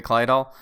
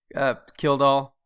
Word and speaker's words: Kildall: I looked at it briefly, but it was mostly a documentary about Gary Kleidahl. So Kildall? Kildall.